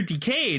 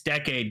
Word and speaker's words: Decade: oh I got the DECA driver from Kamen Rider Decade and I'm like it's decade guys pronounce it decade nothing so beats Kamen